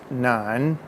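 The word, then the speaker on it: 南: red right to left that first word is none and phonetically spelled n-a-n and that's the word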